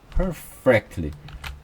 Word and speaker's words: perfectly: 나에게 perfectly 완변한 per가 r이 들어갔죠. 그 다음에 fact 이 F 발음은 우리말에 없습니다. 그래서 per가 들어가고 F가 들어가서 발음이 어렵습니다.